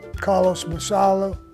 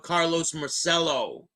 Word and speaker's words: Carlos Marcello: He doesn't even know how to say his name. So what kind of connection did he have with Carlos Marcello? He can't even pronounce his name right.